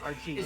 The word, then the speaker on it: Argee: Argee. So it's I spelled it Argee Minecraft. or Argi, but it's literally just the pronunciation of my screen name's initials.